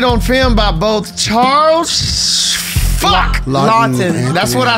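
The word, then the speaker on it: Laughton: Lawton.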